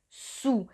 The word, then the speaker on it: sous: Cuidado, se pronuncia su. Es el sonido U como la U en español. Cuidado porque no se pronuncia la S final.